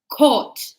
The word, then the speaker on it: caught: Like when you go to the court, like to tribunal. Or the basketball court. Huh? So this is how you say court for basketball. The pronunciation is the same.